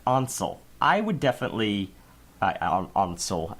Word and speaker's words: Ansel: Ansel. I know I'm pronouncing it quite German, but that's how I hear it.